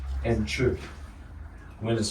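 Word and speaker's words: chih: Wen and chur. Wen is spelled W-E-N, and chur is spelled C-H-I-H.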